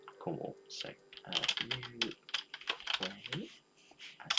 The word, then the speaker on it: Newquay: That would be Newquay, I believe.